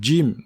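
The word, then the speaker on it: جيم: sont deux sont différents lorsqu'on prononce le jim dans la langue arabe il ya comme une petite pression sur la lettre contrairement au gie de la langue française donc il faut dire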